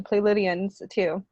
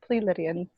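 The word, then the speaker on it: Pleiadian: in a certain document it says that it's play Lydian it's not plea Lydian and they say play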